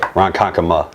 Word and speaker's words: Ronkonkoma: sport we're actually here in I'm not even pronounce it iike saiman khan coma Ronkonkoma right Ronkonkoma whatever it's all the same dude what's up